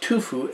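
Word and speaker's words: tuffeau: grown on limestone soil and this is called tufu and it's spelled t-u-f-f-e-a-u but it's pronounced tufu and that is the soil composition where shannon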